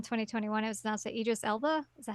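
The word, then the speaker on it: Idris Elba: um August 10 2021 it was anoun it Idis Ela is that how you say his name yes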